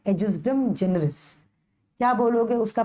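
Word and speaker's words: ejusdem generis: और फिर है एजिस्डम जेनरिस। क्या बोलोगे उसका प्रोनाउंसिएशन? एजिस्डम जेनरिस।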